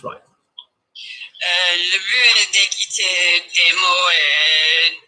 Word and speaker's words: but: In general, though, if you're saying to listen to the words generally, le but, that's it. Le but, we weirdly pronounce the T on that word.